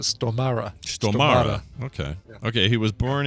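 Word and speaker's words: Stormare: and uh and says here's how you pronounce it you pronounce it stomara okay okay he was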